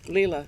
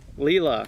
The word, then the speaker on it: Leila: there we go um uh what's your name Lila Lila all right how do you spell that l-e-i-l-a all right cool uh so